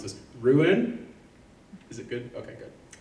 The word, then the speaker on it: Rouen: took residence in, I know I'm going to mispronounce this, Rouen?